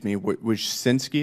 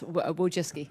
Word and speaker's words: Wojcicki: Miss Wojcinski, is that how you pronounce it? Yes, Wojcicki.